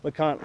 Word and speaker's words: LeConte: awesome so one more thing that's neat that lante has I'm sorry lant could wanted to call it lante this how it's spelled has to offer is the lant lodge